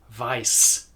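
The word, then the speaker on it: Weiß: in the German language, like in the word Weiss, for example. It's a normal hissing snake of an S. Weiss.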